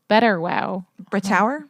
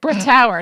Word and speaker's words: Brittauer: But before we go there, I want to just mention with Erwin Betterwow. Brittauer? Yeah. That is not how you say it. Brittauer, not Betterwow.